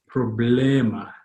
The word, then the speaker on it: problema: E is always as in bed, eh. So the word on the far right, how would that be pronounced? Problema, lema, ema, problema. Awesome.